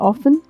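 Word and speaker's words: often: next शब्द अक्सर यानी ऑफेन यहां पे टी साइलेंट है और फिर और लास्ट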